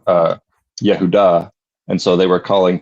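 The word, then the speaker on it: יהודה: as you probably know, in in Hebrew is pronounced uh Yehuda.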